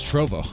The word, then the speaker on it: Trovo: Is it Trollo or Trovo? Am I saying it wrong? It's Trovo. I was saying Trollo.